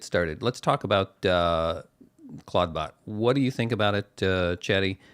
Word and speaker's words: ClawdBot: CL L A WD cla bot simple similar to Claude but Claudebot.